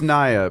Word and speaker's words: Nia: And it's pronounced Nia, Bill.